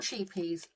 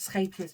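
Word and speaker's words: Scheepjes: I don't know if the camera is getting that, but so when I I'm pronouncing it scapers because I live in the Netherlands and I speak very bad Dutch.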